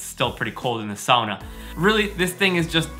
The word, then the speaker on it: sauna: Now, you might be wondering right now, what is a sauna? And you've probably just heard it pronounced sauna. But I'm gonna clear the air and tell you that it's pronounced sauna.